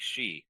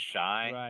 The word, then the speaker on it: Shi: the key one yeah so it sounds like she right like the word she uh I've been nailing it all along good man we've we've gotten a lot of different I mean the usual one we get is shy shy is is easy one